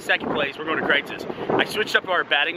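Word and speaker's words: Kreuz's: But it's pronounced Kreitz's.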